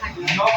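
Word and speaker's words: knock: पर क्या करना है के को नहीं पढ़ेंगे तो ऐसे पढ़ेंगे इसको नॉ पढ़ेंगे क्या पढ़ेंगे न ठीक है ना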